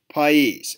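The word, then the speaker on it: Pais: her name is soul PES and uh I believe that's how you pronounce her last name p a i s she's 18 years old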